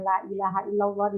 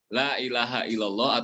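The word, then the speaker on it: لا إله إلا الله: sering mendengar apakah ucapan la ilaha illallah ataupun astagfirullah, nah, ada pengucapannya yang kalau menurut saya kurang tepat karena kata Allah itu kan harusnya panjang, tetapi pengucapannya la ilaha illallah, la ilaha illallah, harusnya la ilaha illallah.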